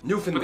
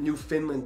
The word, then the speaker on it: Newfoundland: in the world newfound newfoundland is pronouncing newfoundland newfoundland the emphasis on the new not the which is like an fn not even an eye because i pronounced it new finland before but all yeah anyway